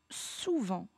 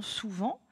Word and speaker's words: souvent: Attention, la difficulté dans souvent, comment écrire le son en? Il s'écrit E-N. Et attention, on a à la fin une lettre muette qui est un T.